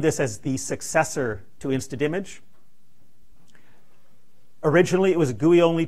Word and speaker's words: InstaDMG: Well, that's because the joy of Twitter, I asked Per what his preferred pronunciation was, because with InstaDimage, the creators called it InstaDimage. I started calling it InstaImage because I didn't want to spit out the D every time.